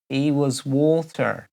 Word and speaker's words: Hewaswater: Carol Powell says Hewaswater. She's heard it pronounced he was water.